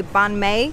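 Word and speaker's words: bánh mì: Now, I hear the locals say banh mi, so either I'm going deaf or that's the proper way of saying it.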